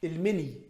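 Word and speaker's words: المني: "Feminization" Look at how he pronounces the word "semen": "The semen (incorrect pronunciation by the person on screen) the liquid sperm, where does it come from?" Al-mini (instead of al-mani) so this is the third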